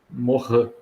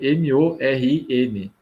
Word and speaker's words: Morin: Tem um estudioso muito bacana, Morin, se escreve M-O-R-I-N, Morin.